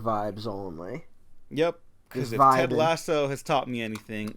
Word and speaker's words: Lasso: ] his name is lasso lasso it's funny i have a friend that just keeps saying laszlo they can't pronounce lasso for some reason well